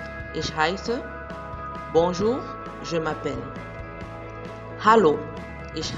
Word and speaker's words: heiße: Tu peux dire Hallo, ich heiße, bonjour, je m'appelle, et prête bien attention au ha dans Hallo et dans heiße.